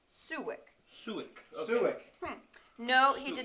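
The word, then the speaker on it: Soljić: In Croatian, it's pronounced Suwik.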